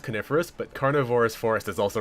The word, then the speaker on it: coniferous: good we don't want any snakes around here carnivorus Forest it's it's pronounced coniferous but carnivorous Forest is also really good carnivorous